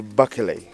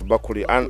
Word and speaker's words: Bakele: The Baganda can't pronounce it properly. His name is Bakele, but the Baganda pronounce it as Bakuri.